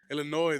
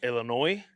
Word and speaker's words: Illinois: I'm I'm so like Illinois the S is silent bro Illinois yeah damn you see